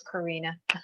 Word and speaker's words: Corinna: you yeah you're welcome i know it's spelled corinna but it's karina nothing worse than calling